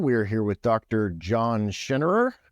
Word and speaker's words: Schinnerer: episode number 21 we're here with Dr John schenerer right that's that's the proper pronunciation uh Dr John has a PHD and